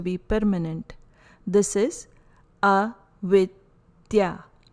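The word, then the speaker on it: avidyā: permanent this is a withya pronunciation is with the soft the sound soft dental second sutra is about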